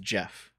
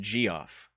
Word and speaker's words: Geoff: I never understood why Geoff is pronounced Jeff. It looks like it would be pronounced Geoff.